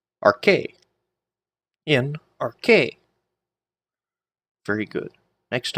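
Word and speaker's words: ἀρχῇ: So, we have alpha, rho, chi, eta. A, r, k, a, r, k. Arche.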